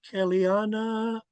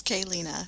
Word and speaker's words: Kaylina: Welcome, Kellyanna. I hope I pronounced your name correctly. It's Kaylina, so it's like the letter K and then Lena.